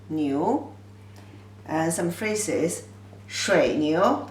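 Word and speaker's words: 牛: simplified version like this ox pronunciation is you new second tone no you knew and some phrases shred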